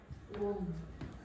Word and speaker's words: wound: How do you pronounce that? Wound.